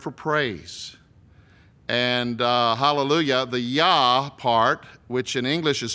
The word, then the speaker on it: Yah: What we can be probably more sure of is that the first syllable is Yah, Y-H, with the consonant, the vowel in between, A sound, Yah, Y-A-H.